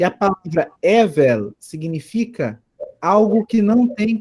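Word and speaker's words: הֶבֶל: Evel. Isso, Evel. A acentuação está aqui na primeira sílaba, né? Evel. Evel, com um som de V de vaca.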